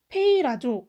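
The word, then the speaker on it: πειράζω: 보면 이런 글자 인데요 페일 아 줘 라고 읽어요 뜻은 발을 걸어 넘어뜨린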